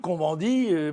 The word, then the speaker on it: Cohn-Bendit: Cohn-Bendit, Cohn-Bendit, puisque nous sommes en France, on le prononce à la française, eh bien lui, dans